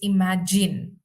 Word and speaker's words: imagine: It's imagine. Imagine. Imagine. Imagine. Imagine. Imagine. Z. It's not Z. Not imagine. It's J. J.